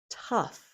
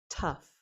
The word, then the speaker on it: tough: Tough. Tough. It rhymes with stuff.